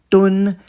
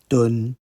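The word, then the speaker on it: 噸: With a mouth radical, that's ko, to the left, we get a first tone, doon, that is in English, or a metric tonne. That's what linguists would call a loan word. It sounds like tonne, doon.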